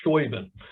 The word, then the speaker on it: Steuben: We know, for example, that American soldiers in the Continental Army often spelled things kind of phonetically. And I've seen several points where his name is written S-T-O-O-B-E-N or S-T-O-O-B-I-N, never written in a way that would look like Steuben.